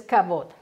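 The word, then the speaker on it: כבוד: encontrar así Gloria y en hebreo la pronunciación es lo que nos importa que es kabot el kabot aquí si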